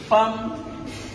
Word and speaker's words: femme: Femme qui s'écrit F-E-2-M-E, qu'on ne dit pas femme ou femme. On aurait pu écrire avec A.